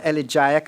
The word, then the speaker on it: elegiac: The songs were elegiac and suited the funeral service. Am I pronouncing it correctly?